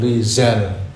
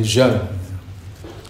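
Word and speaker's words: رجال: gitu ya, disebut Abu Rijal. Tapi mereka dengan lidah sana Abu Rizal. Ya, mestinya nulisnya dengan jim, cuma bacanya saja dengan apa? Seperti za gitu, Rijal.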